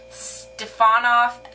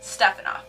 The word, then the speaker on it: Stefanov: get um Ste stean off Stefan off and it's just it's really frustrating because it's stefanov one just word stefanov and people have a hard time pronouncing it um stepanov means son